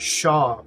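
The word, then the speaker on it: Chau: case you don't know everybody's been pronouncing it Shaw Smith weight so instead of chow which is what I was doing but obviously that's wrong uh this team is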